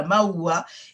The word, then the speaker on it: Maua: vous êtes la fondatrice et présidente de l'association Maua. Est-ce que je prononce bien? C'est bien ça? Oui. Voilà, Maua, et vous êtes titulaire d'un BTS de gestion.